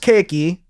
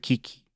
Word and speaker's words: Kiki: It's spelled Kiki. It's pronounced Keiki because it's a Japanese word for cake. But Kiki.